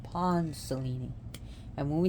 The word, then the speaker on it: Selene: be on the goddess Cellini notice how I said the word Cellini because that's how her name is pronounced in Greece Greek here we call her Celine silly some people call it Selena but Cellini and Cellini